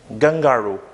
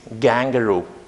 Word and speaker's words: kangaroo: It's not gangaroo, it's kangaroo. Kangaroo. There are supposed to be only kangaroo, two syllables actually, and it's not gangaroo, but it's kangaroo according to the International Phonetic Alphabet.